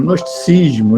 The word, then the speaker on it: gnosticismo: Aliás, esse G nem seria pronunciado, é o gnosticismo, né?